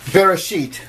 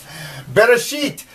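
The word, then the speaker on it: בְּרֵאשִׁית: You can sound that out. Beit, ba, resh, r, aleph. They actually say it's a silent letter, and you don't... It sort of gives the A sound.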